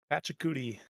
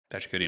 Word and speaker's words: Pachacuti: Pachacuti. Pachacuti, nice.